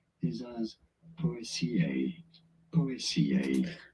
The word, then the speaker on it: Poaceae: correct way of saying it, pronouncing it, is as Poaceae. Poaceae. Poaceae.